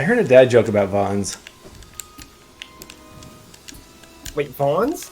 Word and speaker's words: Vans: Isn't that how the shoes are pronounced? Vons? No, it's Vans, isn't it? There's an A in there. Yeah. Is it Vons? Like A is pronounced ah.